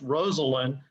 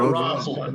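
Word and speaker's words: Rosalynn: And by the way, her name is pronounced Rosalind, not Rosalind, right?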